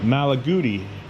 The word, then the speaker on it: Malaguti: don't know what this red how do you pronounce that magali malagi malaguti and this is a pill next to with another pill.